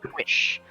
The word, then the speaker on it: Powys: Yeah, I think it's pronounced Wish.